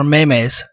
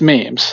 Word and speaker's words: memes: gift hard G okay now is it memes or maymays it's memes memes okay I thought it was married yeah yeah no it's me is it not Mimi's not mayonnaise memes and gift memes there